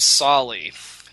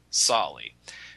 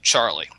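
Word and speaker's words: Tsali: It's a man named Sali. T-S-A-L-I. Sali. Americans at the time pronounced it Charlie.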